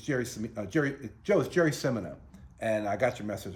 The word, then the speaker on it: Cimino: world a little bit I realized most people pronounced my last name as uh sinina and then when I moved to an Italian place in Monterey California where there's a lot of Italian fishermen uh everybody said you're Jerry chamina why aren't you pronouncing your name right so one day I